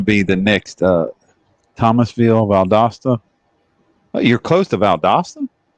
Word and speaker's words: Valdosta: that's not far away from me at all baldusta's south of uh oh i'm thinking of ideally one hour north of tallahassee okay okay yeah you're pronouncing that wrong valdosta valdosta valdosta yeah that's how my wife just said